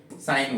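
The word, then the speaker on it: sign: साइलेंट रखना है तो इसको क्या बोलेंगे साइन बोलोगे क्या बोलोगे साइन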